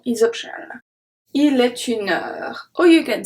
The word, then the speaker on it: heure: So like I said before, the H is silent, so we make the connection between the number and heure.